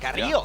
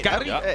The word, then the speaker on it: Carrillo: I gotta say, I appreciate the pronunciation. Carrillo. Yeah. Hey, Carrillo. A roll that R pretty well.